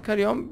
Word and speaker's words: Carrion: Aynen, doğru telaffuz ediyorum. Karyon böyle bir oyun.